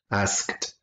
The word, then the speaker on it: asked: okay that's it okay remember the pronunciation of asked because it's a regular verb in past tense asked just like a tea sound at the end okay now guys number